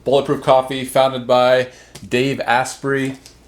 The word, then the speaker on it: Asprey: Coffee founded by Dave asprey or yeah aspiry I think is how you pronounce it but these are the